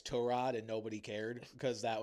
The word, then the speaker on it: Tyrod: I don't think this is going to be like a Tyrod Taylor where he said, "Hey, it's Tur Rod."